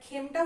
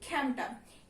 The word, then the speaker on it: খেমটা: হ্যাঁ, তারপরে আমরা খেমটা উচ্চারণ করি না, আমরা করি খ্যামটা।